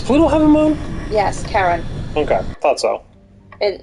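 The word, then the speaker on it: Charon: played hades before yeah c-h-c-h-a-r-o-n yes but pronounced karen metal and metal rich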